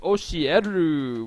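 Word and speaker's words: 教える: in there as well when it's by itself it is oshieru which is to teach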